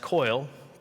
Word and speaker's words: Coyle: named Daniel, I believe his last name is pronounced Coyle.